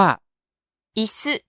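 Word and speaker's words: いす: มี ตัว นี้ เกา อี ออก เสียง ว่า อิซึ อิซึ พูด ตาม อิซึ อิซึ แปล ว่า เก้าอี้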